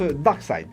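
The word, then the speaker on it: Darkseid: et deux parades et nom de dark side qui se prononce barque side alors petit retour en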